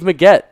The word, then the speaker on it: Meggett: Dave Maggett, 1989. Are you sure it's Maggett or Dave Meggett?